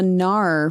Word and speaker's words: Gnar: and i are drinking the gnar from brewery x and it's spelled with a g is it yeah g